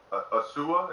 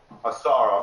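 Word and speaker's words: Ausar: Now, I understand that I keep getting his name wrong. Asua, is that how you say his name? Asar, I'm sorry.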